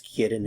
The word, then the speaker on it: quieren: The answer is ellas quieren el pollo. Ellas quieren el pollo. Ellas quieren el pollo. Notice the stem change is here. Quieren. Stress is on the que.